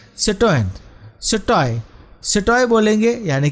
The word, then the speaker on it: citoyen: हैं, तो वहाँ पे सिटॉय और सिटॉइन यानी कि सिटीजन यानी कि mail सिटीजन female सिटीजन। Spelling ध्यान रखिएगा, सिटॉय यानी कि CITOYEN, एन थोड़ा साइलेंट है।